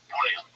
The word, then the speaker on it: Bouillon: It's with two L's in English, but I think in French it's Bouillon. I think you swallow the L's. Bouillon.